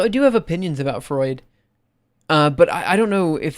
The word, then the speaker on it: Freud: norm I'm surprised that Americans say Freud properly not fruit uh yeah maybe it'd